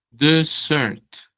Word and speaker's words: dessert: Es dessert doble s. Desert. Hay una palabra que se parece que es el desierto, pero tiene una sola s y se dice desert. Desert. Miren que cambia la entonación.